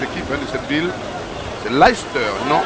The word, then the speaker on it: Leicester: le sociétaire de Life en Angleterre pour bien prononcer le nom de cette équipe de cette ville c'est Leicester non Leicester comme disait et l'anglophone sont très attachés à